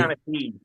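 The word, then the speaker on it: seanchaí: storytelling or Sherlock, which I've pronounced Shanachie. incorrectly. Shanachie. He's a real Shanachie.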